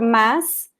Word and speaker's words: mas: But if you say just the word mas, it sounds like an S. Mas, mas.